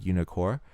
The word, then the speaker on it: Unicore: fabled Reagan one armades one cter two fabled unicor uh it's spelled unicore u n i c o r